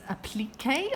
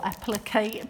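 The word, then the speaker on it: appliqué: them um also got these applique or applique pins depending how you say it k3n um says applique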